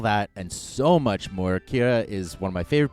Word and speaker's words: Keira: with odd names know, it's key as in key in a door, air as in the air you breathe, as in the sound you make when you understand how to say my name.